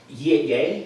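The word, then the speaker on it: Ye: same thing about um yay that's how you pronounce that okay same thing I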